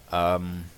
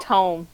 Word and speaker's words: tome: Tomb. Tomb. Yes, that's how you pronounce it. It's tome, not tomb.